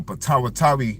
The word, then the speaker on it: Potawatomi: It's the Patawa, I think you pronounce it the Potawatomi tribe.